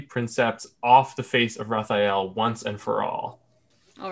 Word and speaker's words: Rathael: raphael what's that what are we going with pronunciation there raphael i was saying rocked all the time yeah